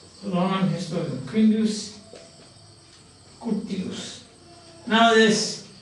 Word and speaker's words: Quintus Curtius: The historian Quintus Curtius, Roman historian, Quintus Scutius. Now this, you may think that why I am pronouncing this means because I have already told you, Latin is a phonetic language.